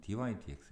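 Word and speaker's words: dy/dx: dx분의 dy는 제가 버릇처럼 쓰는 거고, 공식 명칭은 dy dx 이렇게 위에서부터 읽으면 됩니다.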